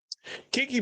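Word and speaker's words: Keke: This is Kiki. Baby, this is K. You guys say it like a old black woman. Baby, this is Kiki Palmer.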